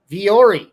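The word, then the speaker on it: Vuori: It's pronounced V or E. Viori.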